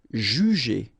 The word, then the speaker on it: juger: So normally the sound when you combine the two, it's J, J, but then ER at the end, E. Juger, juger.